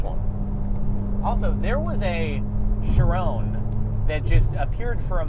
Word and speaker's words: Chiron: Also, there was a Chiron that just appeared for a moment earlier today. It's pronounced Sharon.